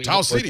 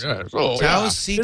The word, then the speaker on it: Tau Ceti: So I completely understand, Katie, if you know the right pronunciation, and we keep saying it wrong with some authority, that's annoying. Tau Ceti, of course. Tau Ceti.